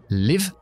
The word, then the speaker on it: live: para diferenciar muchas palabras Imagínate que decimos vivir o salir vivir con la i corta Live y salir con la i larga Live Leave en realidad la i corta tiene